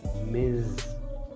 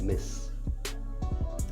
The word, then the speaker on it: Ms: ms is pronounced as miz i should repeat it back the pronunciation of ms is miz give a stress to the z sound miz now frankly speaking i have heard it as miss uh but i learn